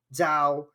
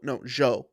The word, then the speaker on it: Zhou: literally I'll look at Sonoda or Alonso or Zhao, or sorry, I don't know how to say the name properly Zhao. yet. Yeah. Zhao. Guan Yu Um, Zhao. No, Zhou. Zhou. Yeah. Guan Yu Zhou. My bad.